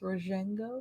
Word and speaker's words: Rojengo: Is that how it's pronounced? Rojengo? Yeah. Soft J.